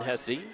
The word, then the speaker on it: Hesse: to go against uh they pronounced it hessie over the pa so we'll do the same so quentin hesse with his first